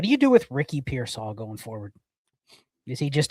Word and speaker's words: Pearsall: It's Pearsall. I don't care. When he earns the right for me to pronounce his name correctly, I will.